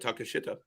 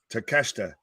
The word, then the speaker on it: Takeshita: Yeah, do you want to say his name or do you want me to correct you after you say his name? I just took a swing at Takashita. Takeshita. Takeshita. Yeah, it's not as again,